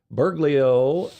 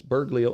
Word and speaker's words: Bergoglio: Bergoglio said as a young seminarian that he had